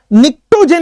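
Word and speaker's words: pnictogen: निक्टोजेन इसको बोलते हैं, पी साइलेंट है, निक्टोजेन, ठीक है।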